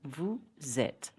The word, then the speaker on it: vous êtes: Another example, vous êtes. So, with the right pronunciation, it will be vous êtes. Vous êtes prêts? Are you ready? These liaisons are always pronounced.